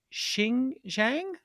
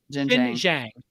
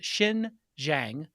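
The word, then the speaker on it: Xinjiang: do we pronounce this is it shin zhang jinjing so x is pronounced with an s shin zhang is an area that's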